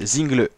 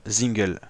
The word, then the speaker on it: Zingle: Voilà, le nouveau champion de France 2022 devant Anthony Turgis et Alex Zinglet. Ouais, c'est ça, Axel, pardon, Zingel. assez compliqué à prononcer.